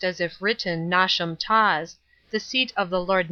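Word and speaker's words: Knotacentinum Towers: place on and around not a sentinel towers pronounced as if written nauseam toss the seat of the Lord not dissent pronounced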